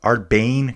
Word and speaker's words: Aardbeien: Don't forget too, Arbin Cross. Arbane cross is how you say it.